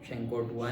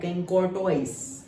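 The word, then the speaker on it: Chancourtois: शैंकोर्टुआ ने, हाँ, शैंकोर्टुआ ने। और जस्ट स्पेलिंग याद रखने के लिए तुम प्रोनाउंस करना चाहो तो कर सकते हो, कैनकॉर्टोइस, ओके, स्पेलिंग याद रखने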